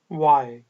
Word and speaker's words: why: बोलें Why? H जो है वो ऑलमोस्ट साइलेंट है।